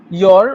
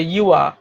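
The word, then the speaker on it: your: একটা হচ্ছে ইয়র অথবা আরেকটা হচ্ছে ইউয়া, দুইটা হয়। আচ্ছা, আমি ইউয়া নিয়েই থাকি তাহলে।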